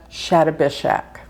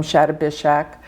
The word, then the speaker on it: Shatabhisha: be in the nakshatra Shatabhishak. That nakshatra Some people pronounce it Shatabhisha. Some of them Shatabhishak.